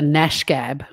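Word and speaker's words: gnashgab: Or you Gareth might be a bit of a Nash Gab, and that starts with a G, a silent G.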